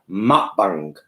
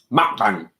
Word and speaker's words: mukbang: Did you know that mukbang isn't pronounced mukbang? I've been saying it wrong. It's mukbang. Mukbang. It's like you're saying mukbang.